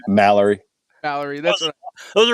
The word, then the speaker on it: Mallory: Mallerie.